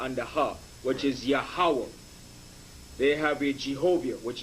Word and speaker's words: Yahweh: 3-syllable breakup, the tetragram, the Y, the H, and the W and the H is pronounced Yahweh.